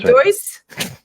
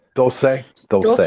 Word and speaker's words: Dulce: So next week we're going to be talking about how do you say that, Shawn Kelly? Dolce. Shawn Graham. Is it Doyce? Dulce. Shawn to the rescue.